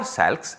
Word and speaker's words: SALCs: symmetry adapted linear combinations, or SALCs, or SALCs as many people pronounce them.